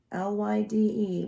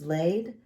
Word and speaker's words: Lyde: So, and some people, try to pronounce her name in the English term, which is Lade, but in the American terms, I don't feel like calling a beautiful woman that's deceased Lade, because we know she ain't getting laid.